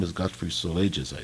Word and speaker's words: Solages: He sounded as if trying to say "so large," but squeezing the G and E sound up against his palate with his tongue, at the last moment dropping the S.